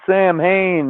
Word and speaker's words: Samhain: They're trying to unleash Sam Hain, which is pronounced Samhain, on day 70 of learning fucking Gaelic on this side.